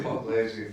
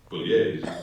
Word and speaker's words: Pugliese: Pugliese for a long time. And he doesn't mind, he's used to it. Well, no, his name is actually Pugliese, when he, because it's an Italian name, but when his dad